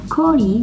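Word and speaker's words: 氷: As you can see from this character, it's pronounced as kori, which means shaved ice.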